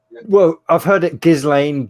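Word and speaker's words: Ghislaine: back just like yeah gizzling i'd pronounce that because it's a g if it was a j then i'd put it jizz lane so yeah i'm so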